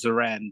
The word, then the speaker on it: Zorran: It's pronounced Zoran, but I'll take anything with a Z and ending with an N.